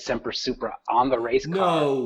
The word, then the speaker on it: Semper Supra: It's so close to the word super, which is a positive word, and it's got 2 syllables in the front, Semper, two syllables in the back, Supra, and they both start with S, and they both have a P in the middle, Semper Supra.